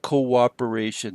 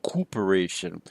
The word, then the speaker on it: coöperation: In other words, co-operation wouldn't be written with a hyphen, but rather, we put a diaeresis over the second "o" to indicate that both o's are pronounced: Coöperation, not coop-oration.